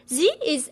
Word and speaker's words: zi: Zi is pronounced as Z. Whenever you see a pinion with a final I, you should ask yourself, is this one of the special seven? If it is, you should know that I here is just a filler. It's actually a silent I.